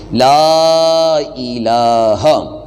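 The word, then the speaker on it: لا إله: ناظرین شروع کرتے ہیں۔ لا الہ، لام کو تھوڑا سا لمبا کریں گے، اس کے آگے الف ہے تو تھوڑی سی مقدار اس کو طوالہ دیں گے آواز کو۔ لا الہ، اور آگے جو لفظ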